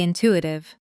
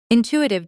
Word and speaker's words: intuitive: in-tu-i-tive Now faster with the stress on the second syllable.